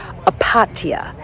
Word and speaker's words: Opatija: Okay, I finally got the name that I can pronounce correctly. It's Opatija.